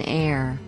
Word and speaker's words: heir: you an hour an heir an honor and not a is used because the consonant h in these words is not pronounced nouns plural nouns nouns